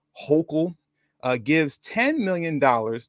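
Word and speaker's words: Hochul: new york governor uh i believe you pronounce her name hokel uh gives 10 million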